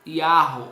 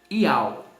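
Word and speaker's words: יהו: Porque o Yud Re Vav tem o som de Yahu, não Yau, tá bom? Equívoco daqueles que falam que Yud Re Vav tem som de Yau. Não tem, porque o Re não é mudo, é gutural.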